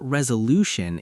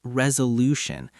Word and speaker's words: resolution: It's not resolution, it's resolution. The stress is on the third syllable. Lu. Say it with me. Resolution. That stressed syllable needs to be longer and louder than the others.